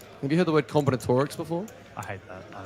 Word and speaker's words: combinatorics: I must just pronounce it like an Aussie bogey. Oh yeah, it's combinatorics.